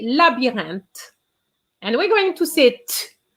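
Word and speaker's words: labyrinthe: uh second line labyrinth i remind you that the y in french has the same pronunciation as an i hence la b then we have the sound an and then we have the t with an h but we know that the h is silent so we are going to say labyrinth and we're going to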